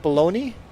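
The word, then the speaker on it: bologna: would you guys like you spell it balona but you you pronounce it baloney okay cuz cuz the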